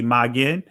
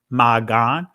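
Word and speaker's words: מגן: If from a Hebraic perspective, you see magen, the primitive root or the ancient pronunciation of this word is magan. So if you hear me say magen or magan, preferably I use the ancient Hebrew magan pronunciation.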